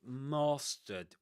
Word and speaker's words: mastered: broomstick control that means I mastered with that long a sound typical in this accent right in southern standard southern standard British English and in received pronunciation too you know in these two accents.